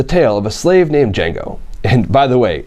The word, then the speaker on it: Django: of a slave named Jango and by the way the D is silent who is freed by